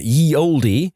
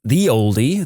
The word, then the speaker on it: ye olde: The ye in ye olde is actually abbreviated as an early modern English letter called thorn that was pronounced like th, so it's pronounced more like the oldie than anything else.